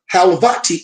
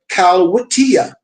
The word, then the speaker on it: Khalwatiyya: The Turkish initiates called it the Halvati order, the Halvati order, a mispronunciation of the Kalwitiya, the Khalwatiyya, and they add Bey to their names.